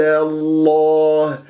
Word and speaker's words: الله: يجي معاك الحرف بإذن الله عز وجل. فضل الله، ولا أقول الله، إياك أن تكور الشفاه وأنت تنطق اسم الجلال الله. اللام مفتوحة مشددة بفتح راح تكون موجودة أمامك، لماذا تقول الله هكذا؟